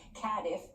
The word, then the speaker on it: Cardiff: we started in okay they taught me how to say this properly cadif yeah and yeah because